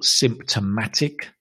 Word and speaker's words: symptomatic: We can also call symptomatic, and the stress is on the symptomatic. Whoops. Excuse me. Sympta. Remember the toe becomes t. Symptomatic.